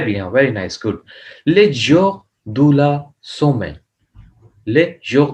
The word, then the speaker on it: jours: तो jour day s लगा देंगे then also you will read the same jour jour but in written you will write the s but it will not pronounce in speaking.